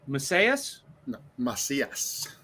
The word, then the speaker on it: Macias: want to mispronounce your last name is it pronounced masseuse okay see listen you should have just actually